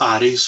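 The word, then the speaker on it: Ares: One's called Aries, or Aries as it's pronounced.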